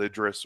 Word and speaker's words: Idris: I probably heard 100% of the time Idris as the pronunciation, but who knows? Idris. Idris, correct. Pascalish language.